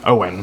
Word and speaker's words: Owen: but uh my name did I get your name wrong again my name is Owen it's not Payton Owen Owen Owen Owen just